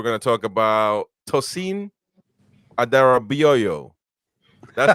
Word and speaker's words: Adarabioyo: Obviously, we're going to talk about Tosin Adarabioyo. That's how you say his name. That's how you say his real name. You guys say Adebayo like he is Emmanuel Adebayo.